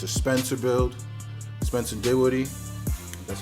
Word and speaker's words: Dinwiddie: Spencer Dinwiddie, that's how you pronounce his last name.